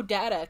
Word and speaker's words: Data: he's like oh my my name is pronounced data and she's like oh what's the difference and then he says what is my name the other is not and then she does